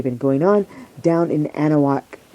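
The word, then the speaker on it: Anahuac: going on down in anaak Texas or anaak I guess that's the proper way to say it anaak Texas and it's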